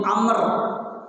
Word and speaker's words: Amr: Yang kedua Abdullah bin Amr. Tulisannya yang satu Umar, Ain Mim Ra, Umar. Yang satu tulisannya Ain Mim Ra Waw. Ada huruf waw di belakangnya, Amr. Ya, bacanya Amr.